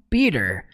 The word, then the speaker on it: Peter: Por mais que nós pronunciemos no português Peter, no inglês eles falam Peter.